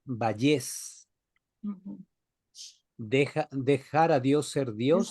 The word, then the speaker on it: Vallés: apellida Valles, Vallés con Valles acento en la E.